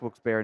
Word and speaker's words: Wilkes-Barre: I think it's pronounced Wilkes-Barre, not Barry.